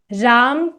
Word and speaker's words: राम: राम जो है उसका प्रोनाउंसिएशन है रामा, जो कि भगवान विष्णु के ही अवतार है, एज the Prince of responsibility.